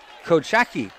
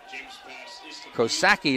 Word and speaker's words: Kochaki: Alexander Kochaki, if I get that right. Kosaki is how you pronounce it, but he was all by himself on the left sideline.